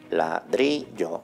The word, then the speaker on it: ladrillo: La palabra es ladrillo, es decir, se eleva en la penúltima sílaba.